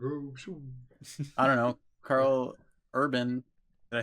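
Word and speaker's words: Karl Urban: Carl Urban, did I say it right?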